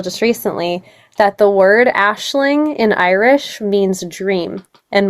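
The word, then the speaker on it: Aisling: And it's the mixture of Ashley, as you would think it's spelled with the Irish Gaelic spelling of the word Ashling. So, a I s L I N G.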